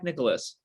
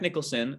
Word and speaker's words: Nicholson: Is it Jack Nicholas? Jack Jack Nicholson. Nicholson.